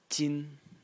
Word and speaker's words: 斤: And the semantic element of the character is this one over here, which is pronounced jin, and it is an X.